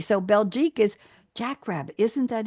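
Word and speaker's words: Belgique: in Belgian hair and Jack yes oh and belek is is how you say Belgium in French B LG I qu e so belic is Jack Rabbit isn't that interesting I thought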